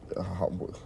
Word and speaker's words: Yahweh: One, all right, the Hebrew Yahweh. Okay, that's the correct pronunciation.